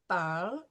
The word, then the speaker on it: parles: And ES, which we don't pronounce the S, It's tu parles is for the informal